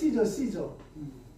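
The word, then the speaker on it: Caesar: 가이사는 뭐냐면 가이사는 원래 그 영어 발음으로 시저.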